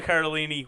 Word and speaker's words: Cardellini: Cardellini.